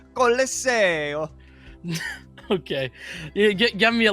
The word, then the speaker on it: Colosseo: Now, this next map has been debated on how it's pronounced, but I don't think anyone will debate me on this pronunciation. Colosseo.